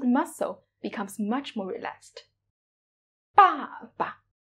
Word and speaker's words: 爸爸: 爸爸, 爸爸. As when you pronounce the neutral tone, you lose this stress.